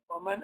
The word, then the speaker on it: ومن: الفتى الذي, because alif lam, alif over here is hamzat al-wasl, you do not pronounce it, so you jump straight over it and say ومن, and this alif that